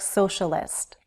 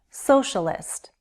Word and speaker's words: socialist: Socialist. Socialist. 3 syllables, stress on the first.